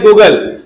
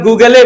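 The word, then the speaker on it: Google: अगर इंग्लिश को हम, एक वर्ड है गूगल, गूगल को अगर हम गूगले पढ़े, क्योंकि लास्ट में ई आता है ना, तो अगर हम उसको क्या पढ़े गूगले, तो 10 लोग टोकेंगे उसको क्या बोल के, दिमाग नहीं है क्या, ये गूगल है, गूगले नहीं है, क्या आती तुमको इंग्लिश।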